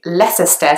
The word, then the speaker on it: Leicester: sites in London and it kind of makes sense to pronounce both the C and the s because they are both in the word but actually only the S sound is pronounced so it's not less